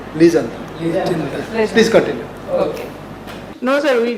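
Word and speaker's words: Legendre: legender as you say he's a Frenchman so you should pronounce him like L well but you are not wrong even in UK they say it liandra in USA they say liandra so you are free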